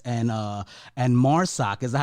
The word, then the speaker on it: Marsoc: I was going to ask you about the voiceover situation because I love the voices in Prodigal X and Marsoc. Is that how you pronounce it?